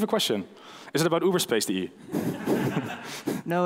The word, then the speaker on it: Uberspace: Just to plug them, they are called Uberspace. They're called Uberspace. .de? .de, uberspace.de. Yes, and so if I spell it correctly, it's Uber, now, like Uber and space as in space.de.